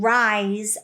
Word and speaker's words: rise: Even though the S is written as it actually is pronounced Z when followed by the magic E.